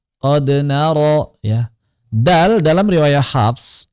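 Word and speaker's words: قَدْ نَرَىٰ: dolu qod naro ah jangan sampai dibaca qon nararo qon nararo qod naro qod naro ya dal dalam riwayat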